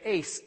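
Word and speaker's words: εἰς: is the Greek word Ice shows motion now I've in the king in the Strong's Concordance it says to pronounce it like the word ice like ice in your drink or falling on the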